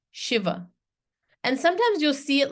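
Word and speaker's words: Śiva: see Lord Shiva right but it's really authentically you want to pronounce it this way that's not an accent you want to you want to do it this way Shiva and sometimes you'll see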